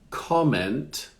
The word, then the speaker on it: comment: So in the first one, the accent is at the beginning. On the second word, it's at the end. Comment.